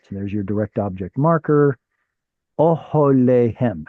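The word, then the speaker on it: אהליהם: How do I know that's a kamatz katan? Because of the reduced vowel next to it. That's an excellent answer. What's another reason I know it's a kamatz katan? It's too far away from the stress.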